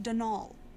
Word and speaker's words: Donal: the caretaker Donalda Lainey not Donald mind you there's no D at the end so it's pronounced dnal that's the way you're